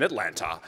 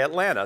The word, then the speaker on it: Atlanta: I didn't know that you're not supposed to pronounce the second T. And I was saying, I'm Josh Levs in Atlanta.